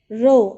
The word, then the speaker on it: row: The answer is the first one, row, R-O-W rhyming with so. And here also you will write R-O-W rhyming with how.